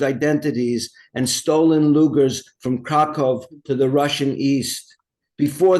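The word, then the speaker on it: Kraków: and I pronounced it krakov instead of Krakow because that's how my father pronounced it you know that's the pronunciation in I guess polish obviously in Polish family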